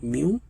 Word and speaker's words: mu: Okay, you can pronounce it like mu.